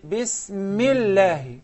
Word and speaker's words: Bismillah: But when I put it in the sentence, Bismillah, I say Bismillah. It's like I skip it.